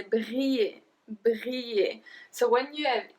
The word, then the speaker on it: briller: So I don't say briller. I say briller.